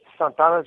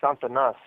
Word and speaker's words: Santanas: So Santana's is more. It's Santanas. Okay. Not Santana's, Santanas. Okay. Yeah, that's how you pronounce that.